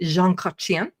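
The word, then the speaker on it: Jean Chrétien: Prime Minister Jean Kachian, sorry, you have to say it like that. You can't just you have to say Jean Kachian.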